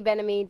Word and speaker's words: Benami: Am I pronouncing it correctly? Yeah, I mean, it's Didi Benami, Didi Benami. I mean, I say Benami, but apparently it's Benami.